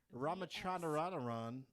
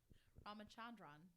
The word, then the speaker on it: Ramachandran: Ramachandran proposed that an accidental link.